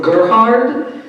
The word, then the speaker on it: Gerhard: great um German Anthropologist by the name of Gerhard g e r h a r d Herm